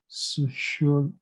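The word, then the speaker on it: Psychologie: Of course, German would be Sociologie. Sociologie. So you see, the Y there is not pronounced as a U.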